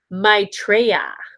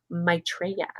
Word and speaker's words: Maitreya: to find your desired outcome okay and it's pronounced maitreya maitreya you it was you leanne thank you it